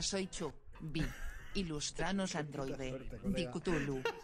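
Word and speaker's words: Cthulhu: Dikutulu, así se dice ahora. Dikutulu. No, no se dice ni Catulu ni Cutulu.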